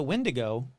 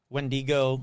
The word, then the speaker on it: wendigo: it sounds like a windigo or a skin walker and I know that some people hate the way I say wendigo or wendigo so uh both pronunciations are correct sorry um and if